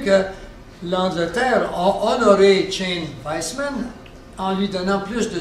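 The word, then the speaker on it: Weizmann: Weissman. Si vous dépensez, si vous parlez du W, mais souvent on le prononce avec le V.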